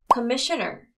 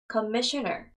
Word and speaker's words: commissioner: commissioner, commissioner. 자, 이거 하실 때 commissioner 하고 뒤에다가 넣게 되면 되게 어색해요, 강세가. 그래서 commissioner 이런 식으로 부분에 찍으셔야 되는 거.